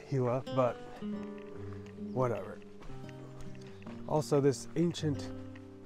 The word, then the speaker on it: Gila: look at that anybody that wants to make fun of me for pronouncing it giwa go ahead it might actually be pronounced Gila but whatever also this